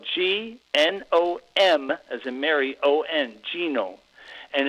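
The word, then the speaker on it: Gnomon: I went to Genome, which is it's spelled G-N-O-M as in Mary O-N, Genome.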